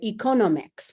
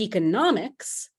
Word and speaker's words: economics: this is completely understandable so an economist the person has the stress on that second syllable but economics the field has that stress on the third syllable so what I typically